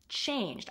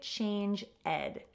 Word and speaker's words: changed: One mistake is when you're pronouncing the past tense. Make sure that you're pronouncing it correctly. You don't have to add the ed sounds to many past tense verbs. For example, changed. I changed my mind. Don't say change ed.